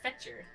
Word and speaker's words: Fetcher: Ruby, Fletcher, I pray... Oh, it's Fetcher. I pray for your... I've been saying it wrong.